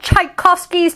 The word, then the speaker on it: Tchaikovsky: shhhh the charging tsunami washed away all of tchaikovsky's tchotchkes not all of tchaikovsky's choc cheese tchaikovsky